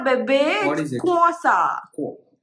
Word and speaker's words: croissant: It's a croissant, baby. What is it? Croissant. KWO. Croissant. KWO. আচ্ছা, কিন্তু এখানে তো pronunciation is KW.